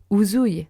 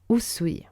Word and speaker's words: Usui: C'est la même chose pour Usui et Uzui. Donc retenez bien Usui.